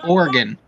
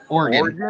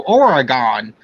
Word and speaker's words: Oregon: It's Oregon. Oregon. Like an organ in the body. You don't. A lot of people go Oregon.